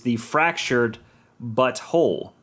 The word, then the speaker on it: The Fractured But Whole: at the censors, is The Fractured But Whole. So it's the fractured, but then it's spelled B-U-T and then W-H-O-L-E, but you say it together, and without context, it's, that's them going, we'll get you.